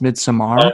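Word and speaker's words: Midsommar: have you seen this summer uh actually it's pronounced mid-samara that's right according to the uh director's commentary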